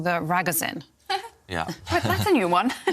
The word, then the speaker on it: Ragozin: kind of call the Ragozin. Yeah. That's a new one. Never heard that. Ragozin. Okay, that's the correct pronunciation.